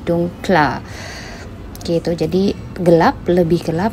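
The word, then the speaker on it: dunkler: Jadi dunkle plus ditambahkan R, jadi kita bacanya dunkla.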